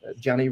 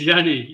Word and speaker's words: Yanni: really is the answer Janny really what what's what's new with you what's new with me is uh you pronounce my name Yanni it's Yan thank you so much it's it's Yanni yeah yeah no it's